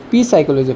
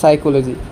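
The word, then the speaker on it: psychology: পিছ যদি কি কইছে পি লেটার পিছ যদি এসটি এন লেটার টু থাকে হলে পি লেটার টু সাইলেন্ট জানে ফর এক্সাম্পল সাইকোলজি একটু বহুতে পরে বহুত স্টুডেন্ট আছে ভালো ভালো বিলিয়ন স্টুডেন্ট আছে কি করে পি সাইকোলজি পড়ে একটু সঠিক ইয়ার অরিজিনাল যে উচ্চারণ হয় এটা হল সাইকোলজি কি হইছে নিয়মটা কি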